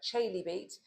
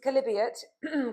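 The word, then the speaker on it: Chalybeate: We have got the Calibri Spring often mispronounced because it is not spelled like that at all. Looks like Chaybeat, but it is Calibriot.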